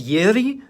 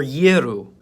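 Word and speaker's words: Ы: Its name is Yeri or Yeru, and its pronunciation is based around the sound U. This letter only makes the first half of that sound.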